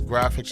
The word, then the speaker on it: GraFX: Graphics is spelled unique, so it's HALLOFGRAFX. So graphics is GRAFX.